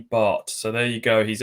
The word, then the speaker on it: Batth: Some people call him Danny Bath because it's spelled Batth, but he was on loan at Colchester when I was covering them, and he was at pains to tell me it's Danny Bart.